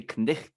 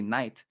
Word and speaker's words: knight: We don't say knicht anymore. We say knight, Yeah. knight in shining armor. uh, but we still spell it like that because of its history.